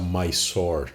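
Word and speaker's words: Mysore: experiência no palácio de Missor. algum as pessoas vão preferir pronunciar mais sore, mas enfim, eu sempre achei que essa pronúncia era muito muito americanizada, né, ou muito anglófona. Enfim, é grafado missor.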